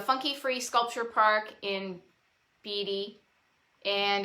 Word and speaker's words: Beatty: i pronounced that right beady like warren beatty warren listen to me